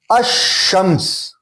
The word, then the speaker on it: الشمس: الشمس, یہاں پہ لام پہ ال کے لام پہ